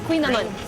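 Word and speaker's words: Kouign-amann: Est-ce que je le prononce comme il faut? très bien. OK. Merci. Queen Amon.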